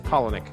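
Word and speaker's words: Palahniuk: His last name is Polinick. Polinick.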